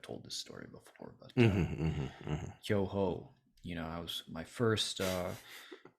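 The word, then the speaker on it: 巨峰: that was serving these kyoho, and somebody asked, "Oh, do you like kyoho, Matt?" And I said, "Oh, yes, I do. Yeah, I like kyonyu. I like kyonyu." And I wasn't saying it correctly.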